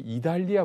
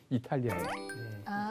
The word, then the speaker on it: 이탈리아: 이 사람을 소개하는데 이 사람이 이달리아 부대라고 해요. 이달리아라고 하니까 이상하죠. 이탈리아예요. 성경에서 이게 좀 요즘식으로 발음하면 좋은데 이달리아니까 이게 이달리아가 어디가 있나 이렇게 생각하는데 이탈리아 부대예요.